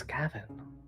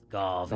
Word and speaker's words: Garvin: Who is this Gavin you speak of? Gar. There's an awe. Garvin.